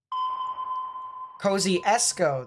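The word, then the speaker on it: Kosciusko: very hard to tell cozy esco that's what it's pronounced on the other hand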